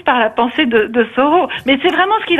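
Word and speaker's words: Thoreau: dit plutôt Soro voilà j'ai toujours dit taureau moi voyez pas un bien grand crime hein alors maintenant je dirais Henry David Sao donc m'avez au moins appris quelque chose c'est la prononciation de taureau h o r e a u mais c'est vrai que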